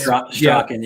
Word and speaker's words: Strachan: His name is, I don't even know how to pronounce his last name. It's Mike Strachan or Straken. The Colts. Strachan, yeah.